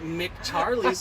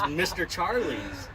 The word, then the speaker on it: Mr. Charlie's: Why does everybody call it Mick when it's Mr.? I don't know. I think you're the first person to make me realize I've been saying it wrong. I was like, I see an MR there. Why is the fuck everyone calling it Mick Charlie's when it's Mr. Charlie's?